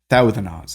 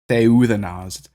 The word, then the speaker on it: Theuthanos: So Theuthanos is how you say that, not Theuthanos, Theuthanos.